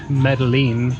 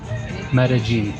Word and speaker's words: Medellín: Medalene. I never say it right. Medigene. Medigene. Medigene.